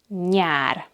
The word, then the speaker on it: nyár: It has the ny sound, like in the English word onion. And the word for summer in Hungarian is nyár.